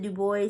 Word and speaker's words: Du Bois: All right, so moving on from Chestnut, we have the Criteria of Negro Art by Du Bois, and he pronounces it Du Bois, so that's what I'm going to say.